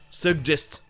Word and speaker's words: suggest: Le premier G est hard et le deuxième est soft, ce qui va donner G, suggest.